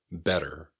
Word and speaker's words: better: Better. It can sound a little bit like it's got D's instead of T's in the middle.